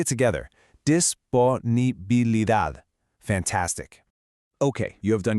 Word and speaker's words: disponibilidad: For this one, the stress is right at the very end, on dad. Let's say it together, disponibilidad.